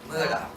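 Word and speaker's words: Mutter: Muda. She was my Muda. And that's how you pronounce mother in German.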